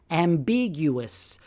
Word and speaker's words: ambiguous: you the actual pronunciation ambiguous so big is in capital letters it means the stress of the word is on that syllable ambiguous here's an example